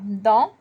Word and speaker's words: dans: Dans un cartable, il y a dans. Boys, just to remind you, le S à la fin en français n'est pas prononcé. The S at the end in French is not pronounced. So we say dans.